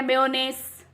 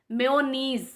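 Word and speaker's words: mayonnaise: सो अगर हम नॉर्मली इसे हम कहते हैं मेयोनेस, मेयोनेंस, ऐसे प्रोनाउंस करते हैं, जबकि इसका मेन प्रोनाउंसिएशन होता है मेयोनीज, मेयोनेस, मेयोनेस, जिसका मीनिंग होता है चटनी।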